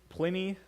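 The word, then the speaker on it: Pliny: This time you're looking at a letter from a guy called Plenny, like it rhymes with skinny.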